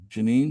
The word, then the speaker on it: Janine: Is that how you pronounce your name? Are you from Sydney? Janine.